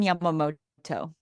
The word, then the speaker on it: Yamamoto: oh no it's okay it's okay it's Yamamoto okay all right I'm GNA call you because I'm going to butcher the daylight H how are you that's totally